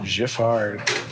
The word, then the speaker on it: Giffard: Giffard. Soft G.